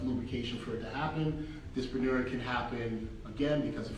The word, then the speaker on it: dyspareunia: Dyspareunia. Did I get it right, Josh? Dyspareunia? Dyspareunia.